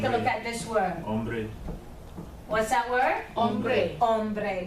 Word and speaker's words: hombre: Because the H is silent. When I take a look at this word, Hombre.